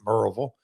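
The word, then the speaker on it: Maryville: And he said, "Yeah, she pre she pronounces it Marvel."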